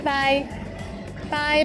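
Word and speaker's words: 拜拜: this in casual situations it sounds like the english bye bye but be careful to start with the first tone by followed by another one in the third tone bye bye bye if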